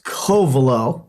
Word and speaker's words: Covelo: it's Covelo, so we can pronounce it right.